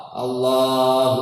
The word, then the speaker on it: Allah: Tidak boleh membaca panjang hamzahnya lafaz Allah, Allah, seperti saya katakan tadi.